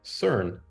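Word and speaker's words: Søren: o r n but in Denmark saurin is pronounced more like CERN and they like this guy so much for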